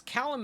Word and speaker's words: Callum: Apparently it's Callum and not Calum, but I'm in Texas and we don't pronounce anything anyway.